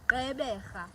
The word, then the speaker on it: Gqeberha: In isiXhosa, the G is an R. And that is the last click. It's the G of the R. And there you have it. That is how you pronounce Gqeberha.